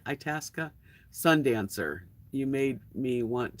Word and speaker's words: Itasca: have a 1998 Winnebago a task is how you say it Itasca Sundancer you made me